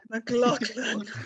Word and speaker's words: McLaughlin: If I messed, McLaughlin.